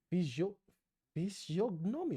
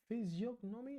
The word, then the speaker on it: physiognomy: In all these islands, there is no difference of physiognomy. Holy shit, I've never heard this word. What? How do you say this? Physiognomy, the art of discovering temperament and character from outward appearance.